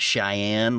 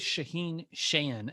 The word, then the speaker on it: Shaahin Cheyene: So I know it's not Cheyenne like Wyoming. So how do you pronounce it given your mixed heritage? Yeah, we just go with Shaheen Shayan.